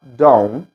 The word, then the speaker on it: don't: O som do T não precisa pronunciar. Não precisa pronunciar, certo? Ou seja, ele vai falar don't.